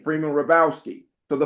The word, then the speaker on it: Hrabowski: Hrabowski, in Birmingham, they actually say Robuski. It's more southern. I went off to college and I found out that the Polish folks said Hrabowski, and I pronounce it that way. The H is silent, but my great great